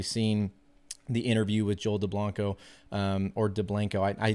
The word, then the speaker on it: Dublanko: it I I believe he he liked it pronounced as Joel deblanco or deblanco see I did it